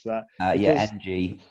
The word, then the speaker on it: Ng: pronounce that uh yeah ng so it's just that just the letters yeah because we signed